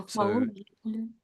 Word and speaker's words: pathologically: But I don't really say pat. It's that slight distance. I'm saying path, path, pathologically.